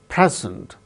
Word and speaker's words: present: Present, the first syllable gains stress, present. Present, when it is used as verb, the second syllable gains stress, like present.